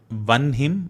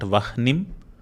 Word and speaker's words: Vanhim: The first one is Jvalat Kanti Vanhim. Notice how we are saying Vanhim, not Vahnim. It is similar to how we say Brahma and not Brahma. So whenever there is an expulsion of air as Ha, we pronounce the letter